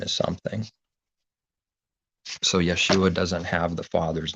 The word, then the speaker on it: Yeshua: so that's yeshua and it's going to be in the king james for example as jeshua but pronounced yeshua so but this is